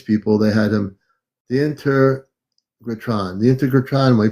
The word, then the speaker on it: Integratron: The integration tron, or I'm not pronouncing it right.